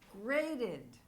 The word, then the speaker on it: graded: And the past is graded. Graded. And in this case, we pronounce this E because the word ends in the sound T.